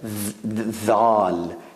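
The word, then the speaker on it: ذ: for the beginners, but it is between dal and Z, between D and Z, dhal. So there's da and the. So like you make a mixture from da, D and Z, the D and Z. It's not Z, it's not D, it's somewhere when you mix it, it's dhal.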